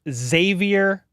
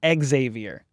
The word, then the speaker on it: Xavier: video from yesterday said bro his name is pronounced Xavier worthy not Xavier we've had months of media now and a